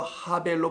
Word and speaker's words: 아벨: 이게 그래서 하벨로 발음되는 건데 왜 아벨이 아니고 nothing이라는 이름으로 이 땅에 오신 예수를 설명하려고 하는 겁니다.